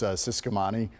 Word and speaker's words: Ciscomani: President, by the way, it's Ciscomani?